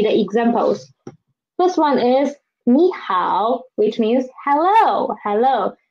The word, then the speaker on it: 你好: which means hello hello me how they're all third tone words that turn syllables then this in this situation we should change this one this knee into me change it to the second term me how without me